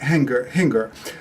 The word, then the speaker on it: Hinger: This was created by a fellow named Richard Hinger. And it rhymes with finger.